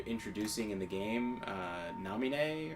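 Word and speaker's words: Naminé: in the game uh Namine or as I pronounced it as a kid uh before they had the voice acting I just namini was what I kept on thinking it was supposed to be spelled as um you know like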